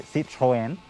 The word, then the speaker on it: Citroën: right now if you're french you would say see trojan but yeah you know what it'll take a little getting used to the pronunciation is not why you tuned in so